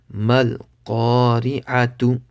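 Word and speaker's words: القارعة: Ra empty mouth. Ra has a zer, so it's empty mouth. Mal qari. Ain zabar a. Mal qari'a. Ta pishtu. Mal qari'atu.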